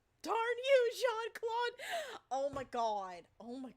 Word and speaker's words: Jean-Claude: murphy was a kid they didn't know how to pronounce jean-claude van damme's name because it looks like gene instead of john because you know he's